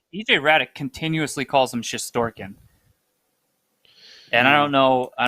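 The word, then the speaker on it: Shesterkin: the way i mean it's pronounced shistorkin because that's how you spell it in russian yeah but you might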